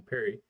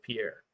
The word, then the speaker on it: Pierre: here last week, Pierre, and I mispronounced his name, I called him Perry, but I looked it up, and the proper pronunciation, which I have a hard time pronouncing a lot of things, was Pierre, and yeah, Andrew, I